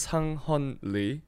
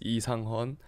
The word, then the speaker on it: Sang Heon Lee: So my name is Sang Heon Lee. Mm-hmm. Or you can say in Korean it's Lee Sang Heon. It's not Sang.